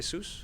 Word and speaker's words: Asus: much a soos by saying it right hey soos yep yeah so let's play a little stranger